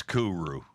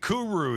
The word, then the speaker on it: kuru: rare disease called kuru what's kuru am i saying you're right cool you're saying it right yes okay is a